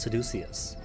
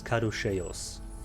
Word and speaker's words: caduceus: The Rat Brigade argues over how to pronounce Seducius.